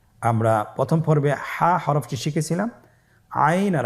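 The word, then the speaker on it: عين: আইন হরফটি উচ্চারণের সময় অবশ্যই তিন আলিফ টেনে পড়তে হবে। এখন আইন হরফটি বারিক হরফ। পাতলা করে পড়তে হবে। আপনারা আমার সাথে বলুন আইন।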